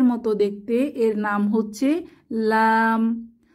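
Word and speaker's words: لام: দেখতে এর নাম হচ্ছে লাম লাম উচ্চারণের জন্য জিহবার আগা উপরের তালুকে স্পর্শ করে এবং দুই ঠোঁট এক হয়ে যাবে লাম লাম আমরা বলতে পারি জিহবার আগা উপরের তালুর সাথে লাগিয়ে লাম উচ্চারিত হয় আর যখন আমরা লাম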